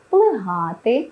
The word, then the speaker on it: плигати: пасти товпитися та інші наголос на другий склад потрібно зберігати в дієсловах плигати спустошити перчити кінчити а